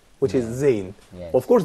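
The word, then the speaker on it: زاي: Well, of course, Zain is different from Zal in a certain way, which is probably Zal is interdental, but Zay here in this way. I think it's probably your tongue is going to exactly lower teeth, going actually.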